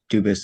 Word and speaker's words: Dubus: Dubus is the English pronunciation. Dubus is the original French.